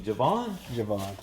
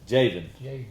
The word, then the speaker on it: Javen: But I called him Javon. And it is Javen Furman.